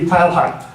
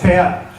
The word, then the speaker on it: Teilhard: If it were a German name, it looks like one, it would be Teilhard. But it's French, and so it's Teilhard.